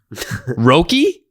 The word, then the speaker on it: Roki: about uh i'm hoping i'm pronouncing this right probably not roki yeah there you go a rookie roki sasaki